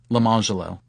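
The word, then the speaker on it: Lemonjello: Or consider the twin boys, Orange Jello and Lemon Jello, also black, whose parents further dignify their choice by instituting this pronunciation, Orangelo and Lamangelo.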